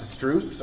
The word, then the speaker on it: Struise: The next two are from, it's pronounced Struise out of Belgium.